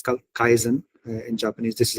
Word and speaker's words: kaizen: It's kaizen in Japanese. This is how you pronounce it.